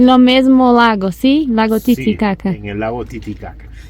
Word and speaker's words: Titicaca: o con la letra K, pero la correcta pronunciación es Titicaca.